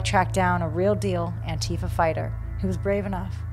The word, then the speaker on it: Antifa: Antifa. What is it? Why is it so terrifying? How is it pronounced? Is the emphasis on E-fa or Ant-tif-a?